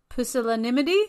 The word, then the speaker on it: pusillanimity: Pusillanimity? Is that how you say it? Yes. Yes.